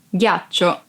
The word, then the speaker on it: ghiaccio: Ghiaccio. Ice. Ghiaccio. Ice. Be careful because if you don't pronounce G as a hard sound like G, it would be ghiaccio, that it's a verb and means lie down.